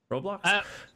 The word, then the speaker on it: Roblox: you Robo blocks our raw blocks I don't know how to even say the word how do you say it I would say roblox roblox let's just we've determined it's now roblox so the question guys